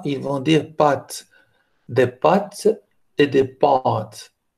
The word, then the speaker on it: pâtes: à ba2 t e et normalement les français par exemple vont prononcer ce mot là avec pat porte prendre et les mots son accent circonflexe sur le a ils ont des pâtes des pâtes et des